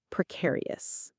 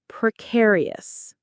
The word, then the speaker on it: precarious: The word is precarious. Let's say that one together. Precarious. Precare e us. Precarious. The stress lands on the c in the middle.